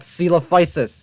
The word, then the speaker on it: Coelophysis: What is this pronunciation, bro? Okay, so first off, the Coelophysis. That's called Coelophysis.